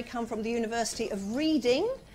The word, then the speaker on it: Reading: from the University of Reading that's how it's spelt but it's pronounced reading which confuses people hugely we also had a